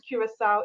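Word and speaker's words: Curaçao: Okay, you already put the slide down, but to remember how to pronounce Curacao is when you get to the CAO, it's pronounced as SOW. SOW.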